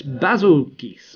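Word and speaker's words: Bazelgeuse: unfortunately now speaking of it's basil geese or juice or however you like to pronounce it in the title update presentations they said basil geese um so we'll go with that for now but that's what geese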